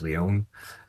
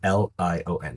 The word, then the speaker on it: Lion: Yeah, and just look up, and as you mentioned, the last name's Leon, but it's Lion. It's spelled like lion, Lion.